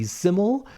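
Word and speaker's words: SYML: I'm also very excited to see Siml. If you didn't know how to pronounce it, that's the artist that's S Y ML and it's usually always capitalized.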